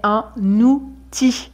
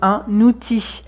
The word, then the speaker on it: outil: On ne dit pas un outil, mais un outil. On fait la liaison, un outil.